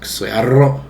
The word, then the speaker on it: クソ野郎: If you want to be really high level, you roll your R's. Kusa yaro.